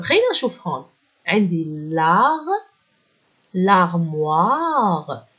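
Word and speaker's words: l'armoire: طب خلينا نشوف هون، عندي لاغ لارموار، الاو اي بالفرنسي صوتها وا مع الام بتصير موا، لارموار، والاو بتعطي صوت تسمح للحرف الصحيح ينطق، إذا الأو بتعطيني تسمح للحرف اللي قبلها ينطق، راح تصير لارموار ومعناها الخزانة.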